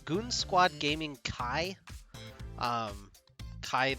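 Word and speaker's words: Chi: squad gaming kai um kai the greek letter c-h-i not cobra kai a little disappointing but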